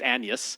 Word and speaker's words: Agnes: William Shakespeare and uh and uh his wife u her name is spelled as Agnes but it's Annas is uh is how she pronounces it.